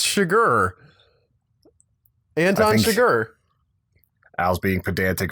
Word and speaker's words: Chigurh: Chigurh, maybe for the money? Chigurh? Chigurh, not sugar. It's spelled like Chigurh, but I think you're just hearing me wrong because it said Chigurh.